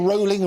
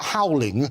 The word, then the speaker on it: Rowling: It's JK Rowling rhyming in bowling. Got it. But JK herself said in an interview when she goes to the States, they talk about howling, so they also call her JK Rowling over there. But it is rolling as in bowling.